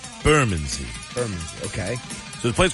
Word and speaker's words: Bermondsey: I found out that we were saying it wrong. We would say Bermondsey, and they say it's Bermondsey. Bermondsey.